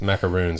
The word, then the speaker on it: macaroon: her macarons are amazing how do you pronounce that macarons macarons macaroons are the coconut on macaroons are the coconut ones macron is the former